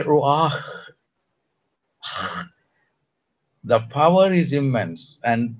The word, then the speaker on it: Ruach: to go to the Old Testament, okay, where Ruach, you just start me the pronunciation. If I do it wrong, let me You know. do it perfectly. Ruach.